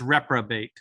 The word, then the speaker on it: reprobate: um reprobate reprobate uh there's that o in the middle of that word is pronounced as an uh so it's reprobate retrobates okay yeah i